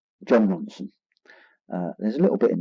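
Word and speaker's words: Jon Ronson: I always get his name wrong. John Ronson, Ron Johnson. John Ronson.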